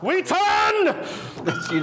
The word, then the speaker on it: Wheaton: wootstout and that's what I missed was weaton weaton there now you're now you're saying it right